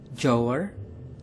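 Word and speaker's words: jouer: seperangkat PlayStation bermain dalam bahasa Prancis yaitu jower jower jower yang digambarkan dengan seseorang anak perempuan yang dijewer bermain dalam bahasa Jerman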